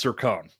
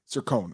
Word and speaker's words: Cercone: It's Cercone. Cercone.